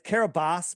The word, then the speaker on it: Kiribati: And it's Kiribati, but I'm going to call it Kiribati because that's how it's spelled, and all the people in Fiji can be mad at me.